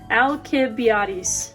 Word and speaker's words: Alcibiades: I spelled his name wrong. There's no L in it, so it is Alcibiades.